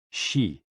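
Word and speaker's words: xi: spleen and X I pronounced like she which connects the whole body the following poem by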